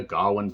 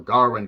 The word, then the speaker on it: Gawain: But nevertheless, this is based on the poem by the Gawain poet, or Garwin, Gar she blows. Depending on the accent you have, you may pronounce this in a number of different ways.